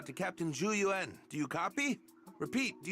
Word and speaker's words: Zhu Yuan: Like, I always get the pronunciations close for Zhu Yuan. The only thing I mispronounce is the only part that I mispronounce is forgetting to put the U in Yuan.